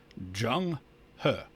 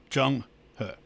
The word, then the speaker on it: Zheng He: And by the way, that's how you pronounce his name, Zheng He. The E-N-G sounds like ung, kind of like the word F-E-N-G-S-H-U-I is feng shui. So anyway, Zheng He.